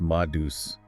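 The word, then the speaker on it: Ma Deuce: Madus, pronounced Madus.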